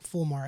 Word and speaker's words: fulmar: Fear, not Flumar. I said it wrong. Fulmar.